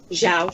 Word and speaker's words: João: How come you can master the art of pronouncing Matias correctly, but still pronounce João wrong? João.